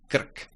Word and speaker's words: krk: However, in words, r, as any other Czech consonant, is short. Krk, krk.